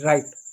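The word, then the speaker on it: write: पढ़ेंगे इसको क्या राइट पढ़ेंगे आर आई टी राइट W silent है यहां पर इसको इसको वरिस्टल नहीं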